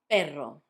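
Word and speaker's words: perro: You can see that in this case, we've got two Rs. That's because between vowels you can put two Rs and that makes the sound like. If you've got two vowels repeating, you put two Rs to make it sound strong.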